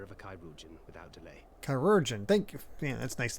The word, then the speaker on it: Chirurgeon: Chirurgeon. Thank you. Yeah, that's nice to know how to pronounce.